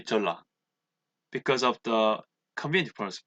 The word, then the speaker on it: Jeolla: Well, if we pronounce Jeon plus La, it will be Jeolla because of the convenient pronunciation.